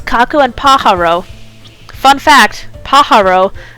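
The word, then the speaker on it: pájaro: and paharo fun fact paharo but spelled with a a j in the middle instead of an H is the Spanish word for bird so it's just called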